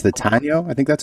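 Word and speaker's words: Taíno: I think it's the Taino. I think that's how you say it. What? The Taino. Taino. Okay. Yep. Taino.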